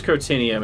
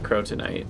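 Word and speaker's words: Crotinnium: It is crotinium, it's not crotonite, but I think that's...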